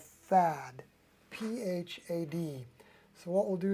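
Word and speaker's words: Phad: the bottom of the dippers pan it's called fad p-h-a-d so what we'll do is we'll say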